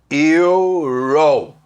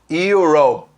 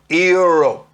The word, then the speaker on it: Europe: Europe. E não falo Europe. E o P trava. Então é quase que um euro, se eu fosse falar em português, né? Europe.